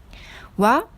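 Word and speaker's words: は: La particule wa, ça s'écrit en hiragana ha, mais on le prononce comme wa.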